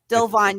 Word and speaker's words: Delevingne: We get, and thank you, by the way, for pronouncing her last name because I actually never get it right. Cara Delevingne. Delevingne, yes, comes in as a new character.